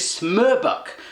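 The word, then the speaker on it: Smørbukk: Next up is something called smorbukk now apparently those funky o with a slash that is pronounced �er� so this is smerbuk, does that mean Norwegians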